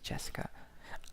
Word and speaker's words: Jessica: Anyway, it's pronounced Jessica.